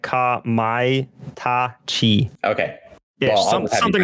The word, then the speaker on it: Kamaitachi: and it's called Phantom Kamataichi. Man, I always feel dumb. The thing with Japanese is their vowels are always pronounced exactly the same. It's not like English. So it'd be like Kamaitachi.